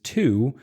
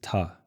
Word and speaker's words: to: And the next word, to. So the strong pronunciation is to, and the weak pronunciation is ta.